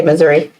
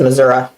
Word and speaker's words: Missouri: said it they said some people from northern missouri pronounce it one way in southern missouri the other way and i say missouri my mom says missouri but she's from oklahoma